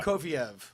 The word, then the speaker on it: Prokofiev: Prokofiev.